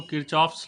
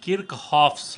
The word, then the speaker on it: Kirchhoff: ऐसे जनरल बोलचाल में लोग इसको किर्चहॉफ्स लॉ कह देते हैं, लेकिन अगर आप सही प्रोनाउंसिएशन करेंगे तो यह है किर्चहॉफ्स लॉ।